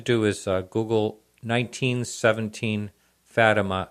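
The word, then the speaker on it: Fátima: is uh Google 1917 fattima it's spelled just the way it sounds f a t i m a uh sighting or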